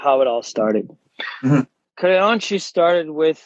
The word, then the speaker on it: Creonte: I'm awful with the pronunciation. Creonte, yes.